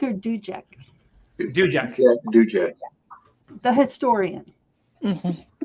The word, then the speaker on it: Duiker: I'm still pronouncing names. Is it Dijak or Dujak? Dujak.